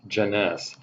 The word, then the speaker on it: Jeunesse: spell je and NYS and it is pronounced Jeunesse do not ask me why is pronounced that